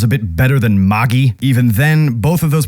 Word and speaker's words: Magi: are probably wrong, because if we were to pronounce it more in an actual Arabian accent, it would be something along the lines of Magi or Magi, kind of like the word genie, because genie comes from the